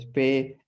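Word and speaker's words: Spee: No se escribe SPI, pues es Spe, ¿no?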